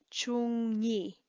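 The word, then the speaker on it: བཅུ་གཉིས: So you will often hear chung ni, chung ni, chung ni. It just flows easier. So even though there is no nga in here, and it's not a function of how it's spelled, it's just the way that it usually gets pronounced.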